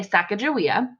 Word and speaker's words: Sacagawea: I've heard it two different ways I say Sacagawea and some people also pronounce it Chicago iam here in the book